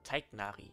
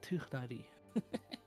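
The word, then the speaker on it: Tighnari: Teignari, genau. Nein, Tichnari. So spricht man es aus, ja.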